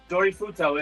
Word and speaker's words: Dorifuto: It's Dorifuto. It's literally Japanese for drift.